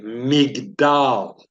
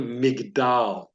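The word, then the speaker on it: מגדל: Tower in the Hebrew language you would say Mig doll can you repeat that after me migdal Tower that is a picture of a McDowell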